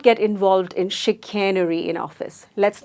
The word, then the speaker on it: chicanery: It is chicanery, and again the sound made by C is not K or S, it is sh. The SH sound, chicanery, and it means deceit or deception.